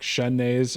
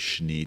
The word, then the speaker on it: Schnee: It's like Shunnays or Sheenies, depending on who you talk to. Yeah. Exactly. So yeah, it's all over the map. So just so it rhymes with TV, we're going to go with Schnee TV for this particular adventure.